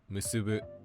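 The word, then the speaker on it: 結ぶ: The other pattern that verbs come in is heiban, meaning that they're just pronounced flat. Words like iku, kiku, and musubu use this pattern.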